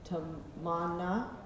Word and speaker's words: Tamanna: They were teaching me exactly how to say it. Tamana.